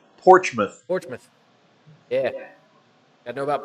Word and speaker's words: Portsmouth: See, Roger's not too far from that place on the river called Portsmouth. Portsmouth. Yeah. Gotta know about Portsmouth. Portsmouth. Spelled Port's mouth, Yeah. but pronounced Portsmouth.